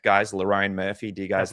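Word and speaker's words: Lerone Murphy: Speaking of how people feel, someone paid $10 just to tell me to pronounce Loraine Murphy's name properly. Is that correct, guys? Loraine Murphy, do you guys like that?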